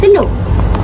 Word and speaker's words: telur: Dalam bahasa Dalam bahasa baku bunyi u di hujung perkataan telur menunjukkan vokal belakang bulat.